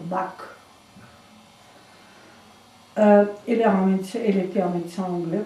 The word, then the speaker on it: Bach: Le docteur Bach, c'est un Bach, parce que on dit Bach, parce que c'est la prononciation allemande. Mais comme lui est anglais, alors c'est docteur Bach.